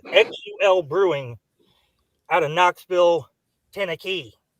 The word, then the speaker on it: Xul: Xul, I still don't know how to pronounce X U L Brewing. out of Knoxville, Tennekey. It By the way, it must be Xul because when I ask for Xul, they know what I'm talking about.